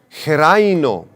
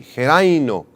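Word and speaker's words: xeraino: Esta palabra madura es la palabra griega geraino, con X y acento en la I, geraino.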